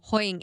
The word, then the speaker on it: Hoying: And how do you pronounce an name? Hoying.